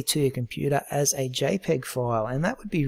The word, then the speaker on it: JPG: what i'm going to choose is jpg it's pronounced jpeg since we've got some high quality photos in